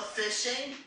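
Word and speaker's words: phishing: So fishing is exactly what it says, even though it's spelled with a a ph.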